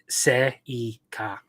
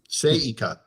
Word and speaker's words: Seika: Just keep in mind that Japanese is largely phonetic, so you would pronounce just about every letter in any word the way you would see it. So, Seika. Seika.